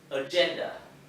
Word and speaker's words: agenda: Từ số 2, agenda. Các bạn lưu ý cái âm G này, cái chữ G này, nhưng mình phát âm là G.